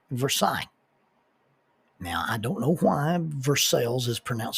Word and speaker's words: Versailles: They said, "Well, tell you what, you spell it French, but we'll pronounce it American."